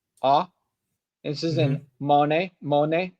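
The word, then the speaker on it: Å: Anyway, let's go to the next one, which is the A with the ring above it, pronounced like ah.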